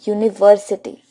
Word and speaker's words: university: example this University then we use a a university friends You Must Be Wondering that over here